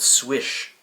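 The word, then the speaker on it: Słysz: knives from spyderco are actually called swish it's in another language how was i supposed to know the way that it's spelt is slush anyways apparently it's swish it's the way that you're supposed to say it marcin swish is the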